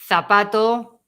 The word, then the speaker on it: zapato: No, every Z, yes. Yes. Z every single time is C. Cádiz, zapato, okay?